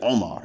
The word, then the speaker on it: Omar: call one of them Omar ibn Khattab. But in Arabic, it's actually Omar. You got to squeeze out that beginning of, you got to squeeze it out because that's a consonant.